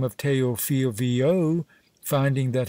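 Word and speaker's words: Viau: name of teo phil vo finding that his surname pronounced like vo cath exposed him to the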